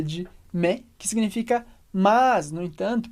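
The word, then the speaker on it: mais: e você sabe que a gente pronuncia me porque a gente tem o s no final que a gente não lê e o ai como Regra geral tem som de E então i me I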